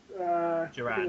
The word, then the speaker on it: Duran: I got to agree with Duran. That's how it's pronounced.